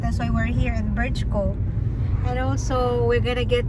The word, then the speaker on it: Brčko: Zdravo svima, mi smo ovdje u Brčko, Brčki, how do you say? Brčko.